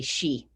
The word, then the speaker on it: Chi: And I got 350 corrections back, because the correct pronunciation is actually she.